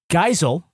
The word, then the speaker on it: Geisel: I'm going to be sending a note to Cy that his last name is actually pronounced Geisel.